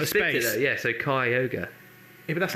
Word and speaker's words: Kyogre: out, yeah, so Kyogre. Yeah, but that's not phonetically. No. But still, though, he brought up the fact that it is ogre, so it's That's definitely Kyogre.